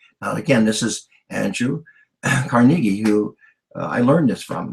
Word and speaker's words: Carnegie: is D I mean Andrew carnegi I'm going to pronounce it the way they did back then some of them say Carnegie you know if people